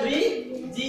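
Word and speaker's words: bridge: বর্গিয়া জ বুঝি পাইছেন এই ডি এর লগে জি যদি লাগি থাকে তাহলে তার উচ্চারণ ডি আরো জির উচ্চারণের লগে বর্গিয়া জ বা জ হব বুঝতে পাইছেন মনে থাকিবা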